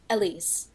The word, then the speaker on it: Elyse: pronounce your name? Elyse.